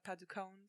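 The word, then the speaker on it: Padukone: you pronounce the name is that how we pronounce typica de pica paducone that's how i say her name and she's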